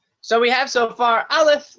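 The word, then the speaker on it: א: So we have so far aleph, which makes no sound, the bet, which makes a b sound, and the B.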